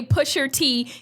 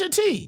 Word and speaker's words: Pusha T: First of all, y'all, I did say Pusher T. That's how you correctly pronounce it. But Pusha. I'm He sorry. spelled it with an A. Pusha. I didn't speak Black Like nigga. American. He spells it with an A. Yeah, it's Pusha T.